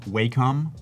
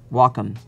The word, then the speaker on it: Wacom: let's ask you do you know the correct pronunciation of Wacom welcome yep there we go I said it wrong